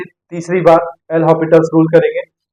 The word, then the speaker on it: L'Hôpital: भी लिखा जाता है सही प्रोनंसिएशन है बेटा एल हॉस्पिटल्स यहां एस साइलेंट होता है इसके बाद में